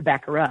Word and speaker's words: Baccarat: glad she took this online course to play Baccarat. Or Baccarat, as it's pronounced, and she spent a lot of money